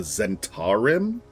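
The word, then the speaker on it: Zhentarim: I do find it neat, too, because playing Dark Alliance, they pronounce it the Zentarim instead of the Zentim.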